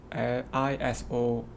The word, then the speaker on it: isosceles: triangles okay okay so this this uh word i-s-o-s-c-e-l-e-s is a rarely uh came across so this is pronounced as a isosceles triangles okay so now